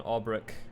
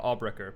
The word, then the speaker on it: Albrecher: is his name um rudolph von albrecht uh albrecher my bad i've been pronouncing that wrong rudolph albrecher is the